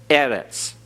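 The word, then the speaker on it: אֶרֶץ: over the first syllable so we emphasize that first syllable Eres okay and then we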